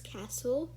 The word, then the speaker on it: castle: a silent t so the first word we have is castle um you don't pronounce the t because it's silent and as you could